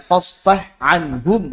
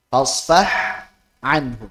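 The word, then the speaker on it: فَاصْفَحْ عَنْهُمْ: Wa ha'a, dan huruf ha pada kata fasfah anhum wa qul salam, maka jelaskanlah fasfah anhum. Fasfah anhum. Ini mutajanisain kan? Ya enggak? Ha dan ain. Fasfah anhum, tapi izhar. Bukan fasfah anhum.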